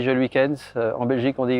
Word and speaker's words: Geluykens: En France, on dit Geluykens, en Belgique, on dit Geluykens.